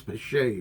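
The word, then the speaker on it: Bechet: He goes, "It's Bashet. It's not Becket."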